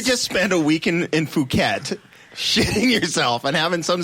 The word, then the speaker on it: Phuket: Phuket. which can also Fuck be it. pronounced fuck it.